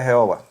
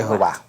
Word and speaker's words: Jehová: su familia eran testigo de jehova de Jehová ya me corregiste una vez esta semana sí Y mira tiene un acento en l tiene una tilde en la jeová los nazis consideraban a